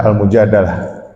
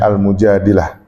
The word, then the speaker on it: Al-Mujadilah: Orang sering baca Al-Mujadalah, tapi mungkin bagi saya yang lebih tepat bacanya Al-Mujadilah.